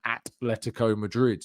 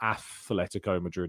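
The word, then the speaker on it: Atlético Madrid: So an atletico Madrid, not athletico Madrid, it's atletico Madrid.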